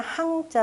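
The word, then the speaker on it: 降: 가지고 잘못하면 넘어지기 십상입니다 내릴 강 짜는 바로 억 이어질 천자를 아래로 이렇게 쓴걸 자료가 위에 사례로 내려 온다 라고 할 때는 강이라고 읽고 누구한테 항복한다 라고 할 때는 황자 로 이렇게 있는 글자입니다 나머지 어려운 것들은 없어요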